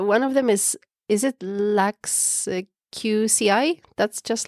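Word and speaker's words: LuxQCI: So one of them is it Lux QCI? That's just like that? Or how do you call it? Lux QCI, yes, that's true.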